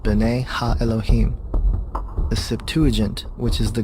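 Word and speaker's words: בני אלהים: of god mentioned here in the hebrew is pronounced bane elohim the septuagint which is the greek translation of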